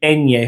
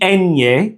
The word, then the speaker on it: ñ: The nye is actually one sound in a single syllable.